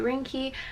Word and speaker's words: Ringke: so shout out to rinky I hope I'm saying that right it's like Rin G ke that's how you say it I'm so bad